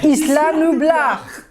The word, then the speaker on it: Isla Nublar: C'est bien Isla Nublar. Ah, il faut prononcer C'était bien Isla Nublar.